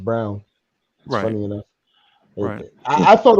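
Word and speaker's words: Braun: from KU okay I'm brawn well his name is actually pronounced Brown that's funny enough I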